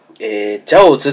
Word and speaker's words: 餃子: で、餃子は、ジャオズって読むらしいん